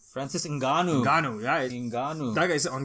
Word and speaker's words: Ngannou: Francis Ngannou.